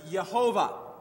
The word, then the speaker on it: Yehovah: The Lord, that we translate it, is the Hebrew word Yehovah. And we think that's the correct pronunciation of it, and I'll explain why in just a minute.